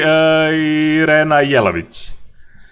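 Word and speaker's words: Irina Jelavić: Practically Irena Jelavic. Yes. That is the proper pronunciation of that name.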